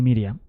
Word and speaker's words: Miriam: josé y maría perdón pero mejor pronunciados en hebreo joseph y miriam sus padres eran josé y maría que es correctamente pronunciado se es joseph y miriam de los cuales prácticamente